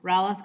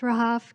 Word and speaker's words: Rahaf: Okay, so Ralph is now, and Azim Khan is next. It's pronounced Rahaf.